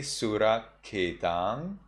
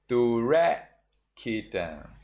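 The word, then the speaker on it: surakkhitaṃ: In Sri Lanka pronunciation, you say Suraketang. In Burmese, you say Turaketang. Turaketang.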